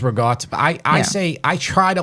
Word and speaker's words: ricotta: I'll always be like ricotta. I always try to bring the vowel at the end of it. But nobody in New York says with the vowel. Everybody says ricotta.